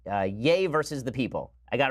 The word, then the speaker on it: Ye: released a track called yay versus the people I got it right this time it's not ye it's yay versus the people even though it's spelled ye alright and his his